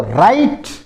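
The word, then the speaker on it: write: फिर देखो राइट राइट यानी लिखना इसमें डब्ल्यू साइलेंट रहता है। यहां से बोला जाएगा राइट डब्ल्यू इसमें साइलेंट रहेगा।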